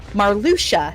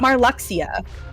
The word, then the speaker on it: Marluxia: Also, the the the guy with the pink hair, uh, Marluchia, not Marluxia. I always thought Moxia.